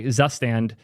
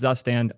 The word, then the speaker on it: Zustand: y'all get to hear the right way to pronounce zustand on my channel and that is the last time you will ever hear zustan pronounced correctly on my channel because I am never ever saying it that way I don't care with